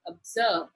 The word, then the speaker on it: observe: Let us look at the word observe. Observe. Two syllable. It is in the second syllable that the stress is given, that is observe.